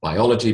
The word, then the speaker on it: biology: these words into pairs notice the shift in emphasis when I build the word the emphasis changes biology becomes biological history becomes